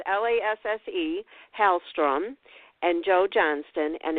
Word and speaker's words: Lasse: Just so if you're wondering, it's Lasse, Hallstrom, and Joe Johnston, and inspired by E.T.A.